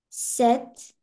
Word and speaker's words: sept: Sept.